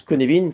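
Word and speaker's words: Cynefin: Alors euh comme dirait Coluche et s'écrit pas comme ça se prononce ça s'écrit sin mais ça se prononce Kenevin parce que c'est du galois. Hm hm. Euh Kenevin est une approche de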